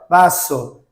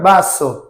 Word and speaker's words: vaso: Vaso, vaso. Não é um B, babebi, bobu. É para dentro o som do V.